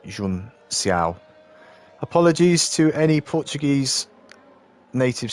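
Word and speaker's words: Junção: And Ant says Jun Cao is pronounced with an S, like Jun Xiao.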